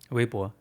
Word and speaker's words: Weibo: I've got is it pronounced Weibo? Weibo. Weibo. Yeah. Okay. One of those sounds we don't have in English.